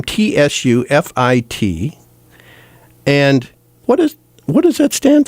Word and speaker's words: Tsufit: It's pronounced Tsufit. Tsufit.